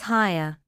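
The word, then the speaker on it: Haigha: His name is higher. He pronounced it so as to rhyme with mayor.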